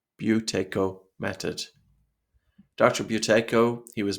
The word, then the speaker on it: Buteyko: a brief history of the Buteyko method, and the pronunciation of the word Buteyko, you could think of it as B-H-E-W, Tae, T-A-E, Ko, K-O, Buteyko method.